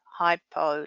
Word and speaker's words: hypo: Remember, it rhymes with low, hypo, low.